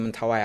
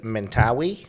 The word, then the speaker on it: Mentawai: A lot of international competition held in Mentawai Island. Would we say Mentawi?